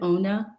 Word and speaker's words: Onah: I mean presence of rosaling Ona did I pronounce that correctly is it Ona Ona is the correct way but uh I